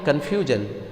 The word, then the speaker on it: confusion: Similarly, confusion. This word ends with SION. So, as per rule, the stress will fall on the second to the last syllable. So, the stress will be on the few.